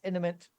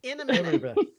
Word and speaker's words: imminent: Enemies imminent. Imminent? Imminent. Imminent. Imminent. Imminent. Imminent. In a minute. Imminent. That's my favorite mispronunciation of imminent is in a minute.